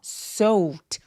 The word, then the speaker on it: soaked: 이거 발음할 때 soaked 안 돼요. 왜냐하면 soak처럼 동사 원형이 크크크 이렇게 무성음, 성대가 울리지 않는 소리로 끝났으면 이 ed는 통째로 t로 발음합니다. 그래서 soaked 아니고 soaked, soaked라고 표현해 주셔야 돼요.